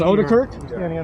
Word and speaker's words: Odekirk: It is Odekirk? Is that how it's pronounced? That's correct.